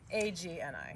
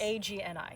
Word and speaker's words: Agni: A-G-N-I, yes. A-G-N-I, yes, and it's pronounced Agni, not Agni.